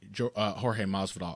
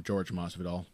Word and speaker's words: Jorge Masvidal: And he'll be fighting Jorge Masvidal. I almost called him George Masvidal. Learning how to pronounce Brazilian names and Portuguese words has ruined my ability to say Spanish.